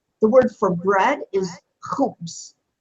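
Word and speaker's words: خبز: The word for bread is khubs. Khubs, without the aleph.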